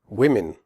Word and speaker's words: women: Women. The O in women has a different sound than the O in the singular form woman. In women, the O is pronounced I, as in the word win.